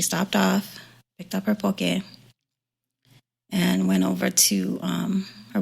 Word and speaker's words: poke: So on her way, she stopped at a grocery store and bought some poke to take with her. And for those who don't know, poke, it's spelled like poke, P-O-K-E.